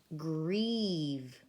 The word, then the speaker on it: grieve: story for a second should this be if we followed our rule this should be a long I and the silent e but it's not drive it's actually grieve grieve means to be